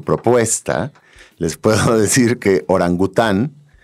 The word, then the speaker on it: orangután: Fíjate que mientras piensa Claudio su propuesta, les puedo decir que orangután viene del idioma malayo y es orang után. Lo pronuncian como separado, orang után y significa hombre de la selva.